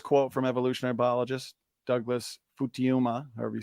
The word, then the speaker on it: Futuyma: from evolutionary biologist Douglas Futuyma, however you say that. Futuyma. Don't make the Jensen error. Know how to pronounce his name. Futuyma.